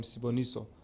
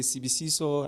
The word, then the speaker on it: Siboniso: then i thought of my name siboniso but pronouncing sibonus was kind of hard for a lot of people some say cbc saw and now okay it's